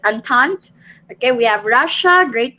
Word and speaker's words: entente: triple and or entente how do you pronounce it i would pronounce it as antant okay we have russia